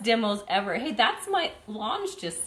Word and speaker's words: L'ange: Lange.